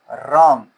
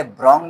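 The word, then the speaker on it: wrong: When your judgement will be रॉन्ग। इसे रोंग नहीं पढ़ना है। इसमें डब्ल्यू साइलेंट होता है।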